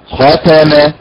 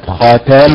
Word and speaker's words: ختم: طبعا الطريقة الصحيحة هي الطريقة الأولى، الطريقة الأولى بوضع النبر على حركة الخاء هكذا ختم ختم الله هكذا، وليست ختم الله، وليست ختم الله هكذا.